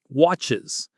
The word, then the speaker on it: watches: That actually creates a whole extra syllable. Think about it. Watches. Instead of trying to say watch, it just flows so much better. Just listen to how this works. I watch, but he watches. I mix, but she mixes. We pass, but it passes. Can you hear that extra little syllable in there?